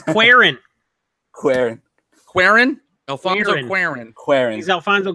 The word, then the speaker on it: Cuarón: I can't say it like that and sound as cool as you. It's Cuarón.